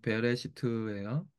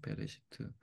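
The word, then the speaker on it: בְּרֵאשִׁית: 가르키는 거고요 태초에 여기 베레 시트예요 베 레 베 시트 시트 이렇게 베레시트 거꾸로 이렇게 발음이 되는 거예요 베레시트 한번 할거요 베레시트 베레시트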